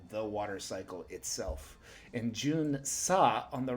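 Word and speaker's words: 巡査: Number 5 is Junsa.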